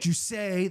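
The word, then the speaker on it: Jousset: John's probably going to kill me with that pronunciation. Jusset.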